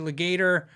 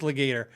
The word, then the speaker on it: Legator: like legator uh um i'm having doubt in my head is it it's not it is legator not leg i did how do you say your name and they said it and i'm pretty sure they said legator i have not tried